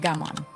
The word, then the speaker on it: gaman: It is called gaman, pronounced gammon.